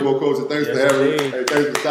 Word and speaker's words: Nwokocha: Nwokocha. Nwokocha. Dan is silent. Nwokocha.